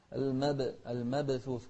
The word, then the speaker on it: المبثوث: المبثوث مو المبثوث، لا، كالفراش المبثوث. شوف الثاء نهمس فيها، مبثوث.